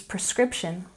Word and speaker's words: prescription: Number 16 is prescription. Remember, it's prescription, not prescription. And we stress the second syllable.